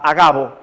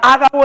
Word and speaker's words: Agabo: Llamado, perdónenme que lo pronuncié mal la vez pasada, Agabo. Si fuera Ágabo, el acento fuera en A, porque es esdrújula la palabra. Agabo.